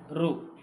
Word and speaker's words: ಋ: ಸರಿಯಾದಂತ ಉತ್ತರ ಮುಂದಿನ ಪ್ರಶ್ನೆ ಋ ಈ ಸ್ವರದ ಉಚ್ಚಾರಣ ಹೇಗಿರುತ್ತೆ ಆರ್ you sorry are ಯು ಕೊಟ್ಟಿದ್ದಾರ ಅದು ಮಾತ್ರ ಸರಿ ಋ ಅದು ಬಿಟ್ಟು ಆರ್ ಐ ರಿ ಆರ್ ಓ ರೋ ಆರ್ ಎ ಏನಾಗುತ್ತೆ ಇದು ರ ನು ಆಗುತ್ತಾ ರಾ ನು ಆಗುತ್ತಾ ಓಕೆ